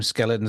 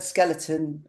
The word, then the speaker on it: Zkeletonz: way we're saying it you say it like the word skeleton with an s on the end of it but the